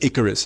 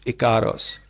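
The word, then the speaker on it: Ikaros: Icarus, or Icaros, I think she pronounces it Icaros. I always mispronounce it as Icarus. I thought it was Icarus, but it's Icaros.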